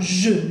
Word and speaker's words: jeu: Un jeu, jeu, EU, E, E, acuérdense, E, un jeu, un juego.